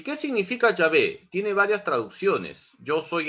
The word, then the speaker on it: Yahvé: cuatro letras sagradas salió Jehová Jehová es un artificio de los masoretas la pronunciación correcta de las cuatro letras sagradas es llave y cuando un judío